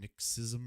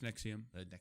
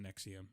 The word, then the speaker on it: NXIVM: on cbc isn't it nixism or something no it's nexium it's just spelt nxivm okay like it's apparently pronounced nexium right it's super douchy